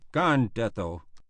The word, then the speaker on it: Gandetto: He always spoke of the gun detail as the "Gandetto," with the accent on the first syllable, and he expressed a